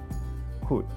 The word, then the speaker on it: could: we have watched and the L is silent here you have the right pronunciation so it is with should could listen them again and